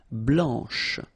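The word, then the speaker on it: blanche: final C and then blanch okay remember when you combine this C you get the sound sh blanch okay so BL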